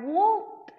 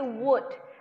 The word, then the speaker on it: would: Nih, bacanya yang selanjutnya adalah I would like, bukan would, tapi would. I would like, L-nya kita ilangin.